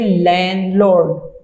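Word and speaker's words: landlord: लेकिन हम इसे पढ़ेंगे लैंडलॉर्ड, डी इसमें साइलेंट हो जाएगा, लैंडलॉर्ड।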